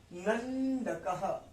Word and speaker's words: नंदकः: उसके बाद नंदकः, आधा ना है, अन आएगा, अन, न नहीं आएगा, यहां अन आएगा, नंदकः।